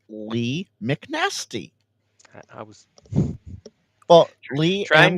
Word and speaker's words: Lee McNasty: It's Lee McNasty.